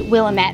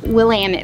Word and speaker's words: Willamette: keep in mind I always thought it was pronounced Willamette Valley but it's actually pronounced Willamette Valley and this valley runs all the way